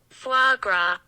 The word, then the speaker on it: foie gras: I'm just gonna play the proper pronunciation. I'm on the edge of my seat. Yeah. Here we go. Foie gras.